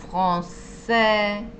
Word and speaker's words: français: Y finalmente tenemos la A con la I, que se pronuncia E, como en la palabra lait, que es leche, français, francés. ¿Ven? Esto suena como una E, français, lait. ¿Sí?